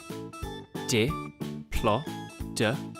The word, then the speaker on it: Diplodocus: Diplodocus.